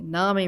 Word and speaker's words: Nami: my name is nami i tell people often it's like tsunami rhymes with salami so they can get